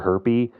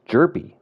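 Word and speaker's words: Hjerpe: and just say Cooper Herpy whenever he's playing. So, I found out it's actually the H is silent. It's jerpy.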